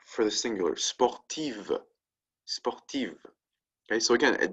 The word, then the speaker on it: sportive: We add a V and an E, right, for the singular, sportive, sportive.